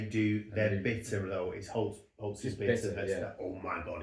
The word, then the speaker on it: Holt's: You have to pronounce it, you have to call it Holtz's almost. Holtz's, you have to get it wrong, Holtz's, grammatically.